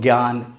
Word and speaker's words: ज्ञान: उच्चारण आज मान्य है इसको ज्ञान ज्ञापन यज्ञ ज्ञात ही बोला जाता है ना कि ज्ञान जान जपन या ज्ञ या ज्ञात इस तरह से नहीं बोला जाता है ठीक है अब